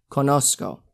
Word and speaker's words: conozco: that's z er in in latin america you're gonna pronounce that like an s not like a z z like in english like a s conosco let's look at subair